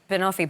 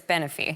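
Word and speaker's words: Benophie: I thought it was Bonophi, but it's Beny.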